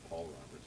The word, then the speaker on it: Paul Roberts: Bring it back to Michelle, even though she mispronounced my name and said back to Robert when it's Paul Roberts, but that's okay.